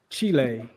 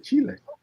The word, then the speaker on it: Chile: he lived there only person I've ever heard pronounce Chile the correct way yeah Chile and now I know how to say it